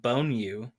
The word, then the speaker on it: Bonyu: I was like, I can't see her name being Bonyu. That's how it's pronounced.